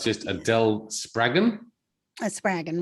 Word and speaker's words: Spraggon: Spraggon rhymes with dragon, 2 G's. Spraggon Dragon. Yep. Spraggon.